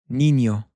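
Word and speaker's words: niño: This makes a sort of joined up N and Y sound. So you can imagine there being a Y right after the N. And that's what you're including in your pronunciation.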